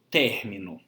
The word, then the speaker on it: término: Então, por exemplo, término. A palavra término, nós temos 3 sílabas, uma palavra trissílaba, que tem como sílaba tônica não a última, não a penúltima, mas a antepenúltima sílaba.